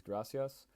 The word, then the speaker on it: gracias: It is also interesting to note that when Harley Quinn says gracias, she pronounced the S with a TH sound.